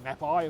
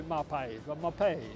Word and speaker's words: Mapei: When I first started, it was Mapei, of course. I think the old Australian way to say it, but it's actually Mapei. So the Italians like to say Mapei. So the right way to pronounce it, Mapei, is Mapei.